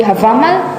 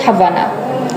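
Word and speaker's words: Hávamál: It's Havama or maybe Havamal, not Havana. They made it Havamal.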